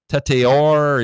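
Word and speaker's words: Tetairoa: Um how do you say his first name? Tatior. It's French or something.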